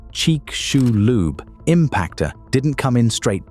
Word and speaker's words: Chicxulub: The Chicxulub, pronounced cheek-shoe-lube, impactor didn't come in straight down.